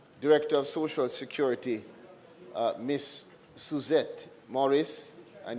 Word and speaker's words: Suzette: of Social Security, Miss Suzette Morris, and you have to say it with the accent on the Z.